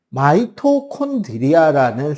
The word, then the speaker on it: 마이토콘드리아: 근데 미토에서 마이토로 바뀌었어요. 미국 애들은 마이토로 발음하니까요.